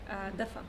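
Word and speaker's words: دافئ: Dafa. Dafa.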